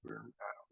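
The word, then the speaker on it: Böhm: She's fighting Andy Berm, or Bohm, however you pronounce that one. Boom. I believe it's Berm. All right. Yeah, you think it's Berm because it's German. Because of the umlaut, yeah.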